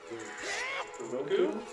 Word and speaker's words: Roku: It's Roku, isn't it? Yeah, it's Roku. A lot of people call it the Roku. Oh no, it's Roku, right? It is Roku. It is Roku, but are you sure? yes, it's spelled R-O-K-U. Well, it's Roku. But there's things that are misspelled all the time, or mispronounced all the time. No, I'm just saying, it really is supposed to be Roku, but it always pronounced